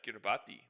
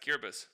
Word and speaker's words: Kiribati: Did you know it's pronounced that way? Or did you think it was pronounced Kiribati? It's actually pronounced Kiribati.